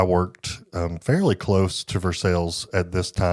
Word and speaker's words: Versailles: from around here and assume it's pronounced Versailles, but no, we call it Versailles. for sales Kentucky and that's when there was something awful that happened.